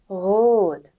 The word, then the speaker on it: rot: 일단은 grad, rot. 여기서는 그 공기가 목 쪽에서 나와야 되는 거예요.